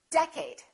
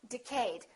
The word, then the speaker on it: decade: you say decade or did you say decade is it first syllable or second syllable well it's the first one it's decade repeat in the next decade all right A lot of people make a mistake and they say decayed let's take a look